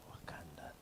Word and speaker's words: Wakanda: Nike in Wakanda. Did I say it properly? Yes. Wakanda.